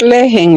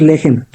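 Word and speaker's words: לחם: ¿Es lejen, hermano? No, eso es en griego, en hebreo es lejem, pan leudado.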